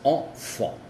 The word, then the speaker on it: enfant: Si se dan cuenta, se dice en porque hay una T y no una vocal. Entonces es enfant, sonido normal.